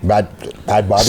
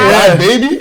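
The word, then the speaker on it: Bhad Bhabie: So it's Bad Baby. Bad Baby. Because I see the H, and I'm like, maybe it's supposed to be something else.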